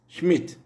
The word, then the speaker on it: Schmidt: Ist, parce qu'il est suivi de deux consonnes, S, T, comme le I de Schmidt, Schmidt, parce qu'il est suivi de deux consonnes, T, T.